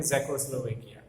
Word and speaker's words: Czechoslovakia: ये नाम आपको पढ़ने में थोड़ा सा दिक्कत होगी, लेकिन ठीक से उसको इस तरह से प्रोनाउंस करते हैं, ज़ेकोस्लोवेकिया। आज ये जो है उसके 2 टुकड़े हो गए हैं, ज़ेक और स्लोवैक।